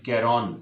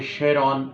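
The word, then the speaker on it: Charon: ए आर ओ एन कैरोन इसको pronounce किया जाता है। कुछ जगहों पर मैंने शेरॉन की प्रोनाउंसिएशन भी सुनी है और पढ़ी है और कैरोन की प्रोनाउंसिएशन भी मैंने सुनी है।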